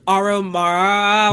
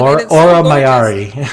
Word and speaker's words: Aura Mayari: Oh gosh, Aura Mara. Why can I never say her name. Aura Mayari.